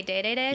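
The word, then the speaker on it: Dedede: say is it D I say DDD some people say day day day but I don't like that and really bad at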